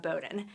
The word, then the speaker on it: Bowdoin: very silly one way to remember is that Bowden rymes with exploding knowledge so we want to